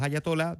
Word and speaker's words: ayatolá: Irán ha tenido a todos estos dos ayatolas desde que Ayatola o hayatolá, porque en España se escribe con tilde en la última A.